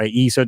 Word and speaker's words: ESA: In other words, they're all independent through their own countries, and like ESA or ESA, depending on how you want to pronounce it, the European Space Agency.